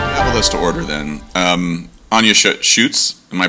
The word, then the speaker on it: Schutz: Anja Schutz, am I pronouncing that correct? Schutz.